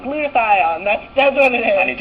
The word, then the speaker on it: glutathione: remember how to say the name of itut glutathion glutathione that's that's what it is and it didn't